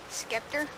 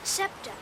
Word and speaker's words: scepter: scepter in my hand skepter what's a scepter scepter it's pronounced scepter it's sort of a